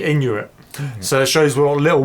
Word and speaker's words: Inuit: Even before Yeah, that, got the title wrong as well because we mentioned Inuit. Inuit. Yeah. It's actually Inuit.